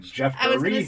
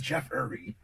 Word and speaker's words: Jeffrey: ] wrong with me most people mess up and make my first name three syllables they do e-r-y right i'm like people like is that not right jeffrey who says jeffrey he has it on